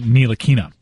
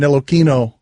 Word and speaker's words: Ntilikina: I believe he pronounces it Ntilikina.